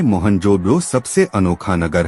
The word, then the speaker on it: मोहनजोदड़ो: मोहनजोदड़ो शब्द का सही उच्चारण है मोहनजोदड़ो और सिंधी भाषा में इसका अर्थ है मुर्दों का टीला।